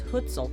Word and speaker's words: Hucul: The only horses available to ride were Carpathian ponies, also known as Hucul ponies. There are a few different ways to pronounce their name, but this is the way I know it.